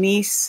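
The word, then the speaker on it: Myss: And this is Carolyn, I think it's Carolyn Nice is how it's pronounced, M-Y-S-S.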